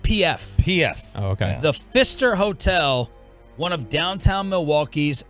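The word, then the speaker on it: Pfister: haunted hotel in Milwaukee I'm assuming this is pronounced the Fister yeah like the old pitcher for the Mariners Doug Fister yep but PF PF oh okay the Fister Hotel one of downtown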